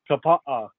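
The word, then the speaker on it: Kapaʻa: How do you pronounce that? Kapaa.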